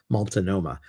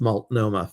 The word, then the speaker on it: Multnomah: I like to call it Multnomah, but it's Multnomah Falls.